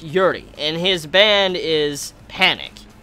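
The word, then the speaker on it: Urie: By the way, if you don't know his if you don't know him, his last name is pronounced Yuri and his band is Panic and the Disco or Panic at the Disco.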